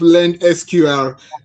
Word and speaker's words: Lendsqr: Thank you for that question, but before I answer that, let me just help with pronunciation. The company is called Lend SQR.